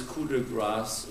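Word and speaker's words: Coup de grâce: I had shown this Cuda grass movie Cuda grass is how we say in French it's called KRA in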